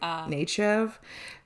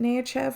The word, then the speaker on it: Nechayev: And Nechayev, listen, everyone pronounces it differently in the show. Oh, do Riker pronounces it differently to what Picard does. So I wrote it down how Picard pronounces it, was just like Nechayev. Riker pronounced it Nechayev, which I think is